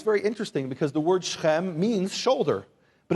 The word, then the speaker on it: Shechem: Now, in the English, you'll see Shechem and Hamor, but it's pronounced Shechem, say Shechem, and Hamor, say Hamor.